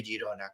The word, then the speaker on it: Girona: Girona en lugar de la pronunciación catalana que es fonéticamente Girona como digo así es otros expertos